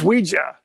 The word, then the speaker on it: Ouija: yah we okay because it's not IG it's it's Ouija it's Ouija it it's it's yes in French yes in German it's a yes yes